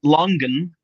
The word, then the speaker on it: longan: They show the ah as being long but not stressed. Mhm. What does Wictionary say? I usually trust that better for pronunciations. Yeah. Long. Longan. Longan. Longan. Longan. That's quite different. Longan. Yeah. Okay. I think they're just like sort of half borrowing like a Cantonese pronunciation because on wictionary they they give that with a long uh in the second part but I don't know